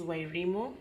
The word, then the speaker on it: Wairimu: My name is Wayimu.